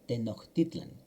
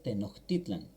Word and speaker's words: Tenochtitlan: Tenoitlan. La ch no se pronuncia así de fuerte como en el español en nawat, sino que se hace como una h barrida o una j barrida o alargada.